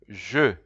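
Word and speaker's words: je: will see there I I in French is pronounced Ju Ju but you'll see that ju you can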